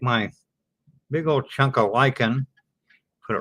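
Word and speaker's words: lichen: L I c hen and that's pronounced lyken.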